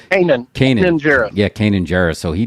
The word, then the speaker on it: Kanan Jarrus: Kanan Jarrus.